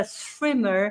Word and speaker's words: Schwimmer: These are Noticias Positivas, which is why we welcome Schwimmer.